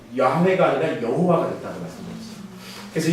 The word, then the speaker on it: 야훼: 그래서 요게 윕, 해, 와, 해를 묶어서 야훼라고 하는 발음이 나옵니다.